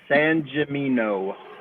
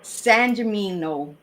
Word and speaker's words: Sangimino: Sangimino. Sangimino.